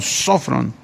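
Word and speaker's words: σώφρων: Esta palabra se tradujo del griego sofrón, tiene acento en la primera O, sofrón.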